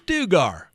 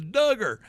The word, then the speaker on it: Duggar: i the duggar matter i'm like it's dugar right this looks like a dugar to me oh my god every comment you mispronounce it it's duggar and i think i think it was julie that said it's it's duggar like rhymes with hugger how appropriate and so